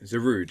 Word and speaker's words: Zarude: anime was um I don't know how to pronounce it was you know the Pokemon movie you're a zero day or is zarud zarude yeah yeah yeah zaru that's good that's right